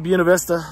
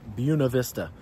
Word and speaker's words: Buena Vista: You guys might be wondering why the heck I keep calling it Buena Vista. It's obviously pronounced Buena Vista, the Spanish spelling. Well, that's not true here.